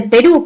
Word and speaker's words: Perú: acuerdo el caso de perú por ejemplo sabemos que perú lleva tilde pero por qué porque es una aguda dado que la mayor fuerza de votos el acento está en la última sílaba de pink y justo